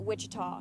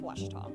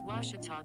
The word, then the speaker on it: Ouachita: for washida baptist university back in texas everybody pronounces it wichita but really it's ouachita washington washington how would you pronounce it it's washita baptist university get it right it's water tall